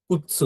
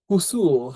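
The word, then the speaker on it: くつ: তো দেখেন যদি আমরা ইংরেজিটাই পড়ি, KUTSU, কুৎসু, তাই না? তো এটাও একেবারে জাপানি ভাষায় সেম জিনিস, কুৎসুই হবে, কুৎসু। তার মানে এই সুটা কুসু এরকম হবে না, কিন্তু এটা কুৎসু হবে। এই টিটা তখন উচ্চারণের মধ্যে চলে আসবে।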